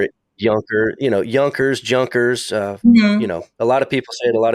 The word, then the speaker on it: Junkers: over here so uh a j sounds like a j to us so a lot of people say junkers I hear it junker you know yunkers junkers uh you know a